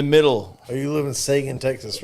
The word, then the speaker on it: Seguin: But Charles is say it like the hockey player, Sagan.